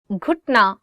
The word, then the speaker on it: گھٹنا: گھٹنا, knee. گھٹنا, knee. One more time. گھٹنا. So it is gaf and you're adding it with he, and it becomes gh, gh.